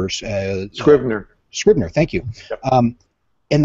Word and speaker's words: Scrivener: they'll use, I don't know if I'll pronounce it right, but Scrivener or... Scrivener.